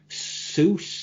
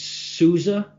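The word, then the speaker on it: SUSE: was looking at um soos i think or sorry for any german listeners it's sousa i think they pronounce it susie but i call it suit and i was looking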